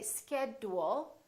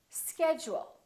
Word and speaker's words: schedule: say educate education schedule we don't say schedule we say schedule one more word individual